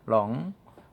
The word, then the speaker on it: wrong: 아 타락시킨 그쵸 에러 드로우 w 일이 이제 묵음 이 지역 스텝 2 n 롱 만들어지지 않고 조 잘못된 방향을 이렇게 뭐 하고